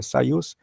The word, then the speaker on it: Soyuz: É por isso que as primeiras naves espaciais, e até hoje, por exemplo, a Soyuz, se pronuncia Soyuz, tem 3 cosmonautas, para responder aos americanos, que colocaram 3 astronautas como meta, tá?